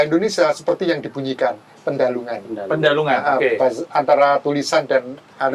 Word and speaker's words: Pendhalungan: ee baik pendalungan at pandalungan sih P pendalungan Kalau pengucapannya pendalungan tapi tulisannya kan kalau versi Jawa pandalungan ada yang pendalan ya